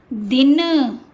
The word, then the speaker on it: दीन: ये है दिन, ये दीन।